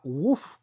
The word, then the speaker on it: Woof: favorito que se llama Woof Curry. Sí. Es un sitio de curry bastante chiquitito. Se escribe W-O-O-F Curry, o sea, como un ladrido.